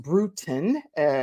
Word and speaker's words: Brutin: brutin is pronounced brutin like kind of brewing a tea type of thing and she is a